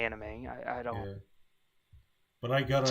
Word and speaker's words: anime: wrong no but I got on you for saying onime because I'm like oh that sounds funny that's not how you say it and I'm like oh